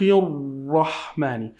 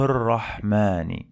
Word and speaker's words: الرحمن: This lam is lam shamsiyya. We don't pronounce it.